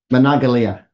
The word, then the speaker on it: Monongalia: I'm sorry I'm not sure I pronounced this Monongalia wood Hancock Brook Ohio and Marshall is that correct that's that's correct Gary yes and what is the current correct pronunciation we'll we'll work on your pronunciation though manalia manalia okay well H you are you are